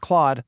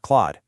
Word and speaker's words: Clawd: And quick aside, that rhymes with Claude like a bear, not clawed.